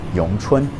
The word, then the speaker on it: Wing Chun: Wing Chun, it was a style that was created for a woman named Wing Chun, okay? Or in Mandarin, Yong Chun.